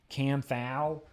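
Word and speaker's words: Kanthal: This is Canthal, or as some people say, like Phil Basardo, Canthal.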